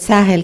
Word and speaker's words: Sahel: And you would notice that every time the word Sahel comes up, I involuntarily pronounce it as Sahel. Sahel is an Arabic word that means coast.